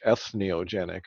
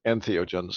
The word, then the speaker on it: entheogens: for getting correct because a lot of people don't get that word pronounced correctly they sort of struggle through it and end up with something like s neo genic or whatever but right entheogens and for anyone watching or